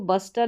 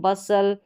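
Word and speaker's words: bustle: अब इसको बस्टल नहीं बसल इसको रेसल पढ़ेंगे।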